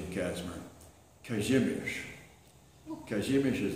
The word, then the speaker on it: Kazimierz: I always went by the nickname of Kai, which is an abbreviated nickname for the Polish pronunciation of Casimir, Kazimierz. Kazimierz is the Polish pronunciation.